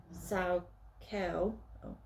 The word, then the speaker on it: Saukerl: Saukerl, pronounced Saukerl, is for a male.